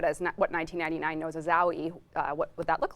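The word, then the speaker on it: Aoi: introduced our second proto frame, and that's Owie.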